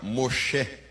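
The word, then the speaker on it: מֹשֶׁה: Moisés na pronúncia hebraica, Moché, tirado das águas, extraído das águas.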